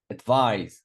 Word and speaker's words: advise: Advise, second syllable. Advise.